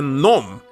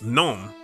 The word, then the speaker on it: gnome: You're not pronouncing as G like a nom. Nom. It's gnome.